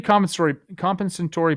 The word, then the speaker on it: compensatory: You're putting the emphasis on the wrong syllable. Yeah, I'm sorry. I've been talking a lot lately. I'm over my own voice. It's compensatory.